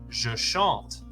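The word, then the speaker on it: je chante: I sing in French the correct answer is jashant weirdly we wouldn't keep the spelling Shantae and that's because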